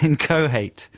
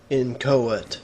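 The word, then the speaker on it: inchoate: head it's it's well i pronounce it phonetically in in inca hate in co-hate i've got i've got this wrong haven't i i don't know i've always said inco hate when i've said it out loud how let's see what pronunciation book says in cohert in cohort no h in there ah but i like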